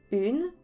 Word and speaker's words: une: Une est un mot de 2 syllabes. On prononce le N.